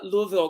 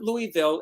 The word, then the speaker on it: Louisville: ask you because i know you're from uh louisville kentucky uh carol channing who is a friend of mine always said it wasn't louisville it's louisville louisville is that right am i pronouncing it